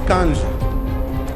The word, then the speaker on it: Nkandla: Some people who could not pronounce Nkandla, they've now learned Nkandla, Nkandla, Nkandla.